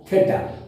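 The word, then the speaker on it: theta: इसको थीटा बोलते हैं, इसको इट प्रोनाउंस एज थीटा।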